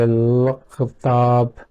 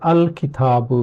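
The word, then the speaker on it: الكتاب: So when we add lam, and because lam is silent, it becomes difficult to pronounce it. We can try, we can say l-khitab, so it's really difficult to pronounce. And what Arabs then do is they add hamza before it and give this hamza fatha. So the word becomes al-kitabu, which is then easy to pronounce.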